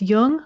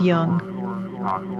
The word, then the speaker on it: Jung: Just be sure to pronounce Jung with a hard J.